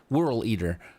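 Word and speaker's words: Whorleater: holer horl wh eater I'm saying that wrong whirl eater there you go there you go and a way to remember how to say it think world eater is what they're doing a play on the word world eater yeah because that's a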